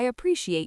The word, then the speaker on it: appreciate: you can say, "I appreciate your patience." Let's practice the pronunciation of appreciate. That can be a tricky word for a lot of learners because of the soft sh sound in the middle.